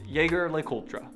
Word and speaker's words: Jaeger-LeCoultre: some of our favorites for starters jlc is pronounced jaeger-lecoultre and the name comes from the names of